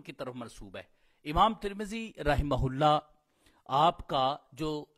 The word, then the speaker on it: ترمذی: الرحیم۔ سلسلہ القاب و اسما اور اس کے تلفظ اور اسباب و وجوہات میں سے آج جس پر بات ہوگی وہ ہے ترمذی۔ ترمذی جو لقب ہے یہ انتہائی معروف شخصیت،